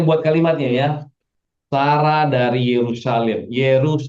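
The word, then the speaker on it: Yerushalayim: Oke, ini bacanya Yerusalem. Oke, mulai sekarang kalian membaca Yerusalem. Ye, Ru, Sha, La, Yim. Yerusalem. Ya, Yerusalem. Yerusalem. Iya, ya. Orang di sana bilangnya Yerusalem. Kalau kita bilang Yerusalem. Kalau benar Hebrew benar itu Yerusalem.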